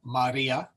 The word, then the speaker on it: Maria: is a the Maria we have a short a and a long I so Maria and the accent is in the middle one graia we'll come to